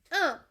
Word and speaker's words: un: It's un. And I'm not saying the n. It's a nasal.